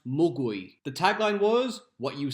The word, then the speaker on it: mogwai: Gizmo is a mogwai. Mogwai is Cantonese for gremlin. However, in Cantonese, it should be pronounced mugui.